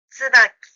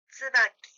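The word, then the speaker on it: 椿: 이 한자는 동백꽃을 의미하는 쯔바키라고 읽습니다. 츠바키, 츠바키.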